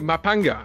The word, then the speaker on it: Maphanga: K is a G and the pH is a P interesting two aspects of